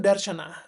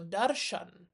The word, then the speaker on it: darśana: Jadi dia itu bukan darsana tetapi adalah sebenarnya darsena atau darshan.